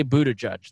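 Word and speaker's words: Buttigieg: mayor Pete's last name I say boo to judge that's how I've heard it that's how I've heard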